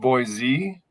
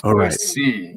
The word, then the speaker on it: Boise: It's not Boise. It's Boise. You make sure you say it with like a C.